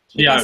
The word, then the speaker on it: Tiago: For task 2, is it Thiago or Tiago? Tiago. I said that right? Tiago. Great. Said it right the first time.